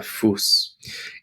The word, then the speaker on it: Fuß: And we have our SZ on the end, and we pronounce it like it's two S's, der Fuß.